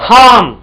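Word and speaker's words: harm: अनन हार्म नुकसान पहुंचाना हाम देखो आर काफी साइलेंट होता है बीच में अगर आता है ना य डोंट यूज हाम ट बोलो हमम नेक्स्ट कंसील छुपाना कंसील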